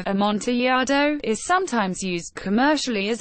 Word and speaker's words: Amontillado: Amontillado Spanish pronunciation a Monty a Thome is a variety of